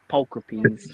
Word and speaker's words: pulchripes: Pulchripes or pulcripes? Pulchripes, I say. We say pulchripes.